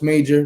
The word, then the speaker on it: MAGR: it on magr enterprises which is pronounced major major enterprises on youtube uh